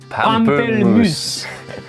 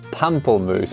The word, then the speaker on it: pamplemousse: Pamplemousse. Pamplemousse. Pamplemousse. What do you think it means? Grapefruit. Yes! Yeah, I heard that. I feel like he said that in France. I mean, that's a fun word. Pamplemousse.